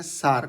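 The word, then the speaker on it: Src: सार्क। ठीक है? इसका प्रोनाउंसिएशन सार्क होता है।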